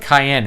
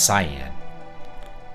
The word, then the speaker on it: Cyan: Is it Cayenne or Cyan? I've always pronounced it Cayenne, and someone was like, "No, it's Cyan."